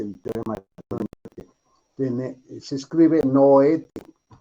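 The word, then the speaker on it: Noether: Eso es lo que me dice el teorema de se escribe Noete, Nete, se pronuncia.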